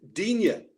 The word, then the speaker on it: Digne: But even he, when he had to perform in front of the camera, as Jim P alluded to, he even said Digne to suit the British way of pronouncing his name.